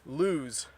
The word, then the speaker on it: lose: and I'm starting to lose weight so notice the difference in meaning and pronunciation between the two my belt is loose